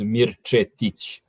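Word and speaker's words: Mirčetić: It is Mirich.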